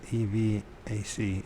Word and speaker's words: EVAC: Her last contact with EVAC, E-V-A-C, EVAC, that's how you pronounce it, even EVAC, was in December 1987, as she drove her son through a snowstorm into another town.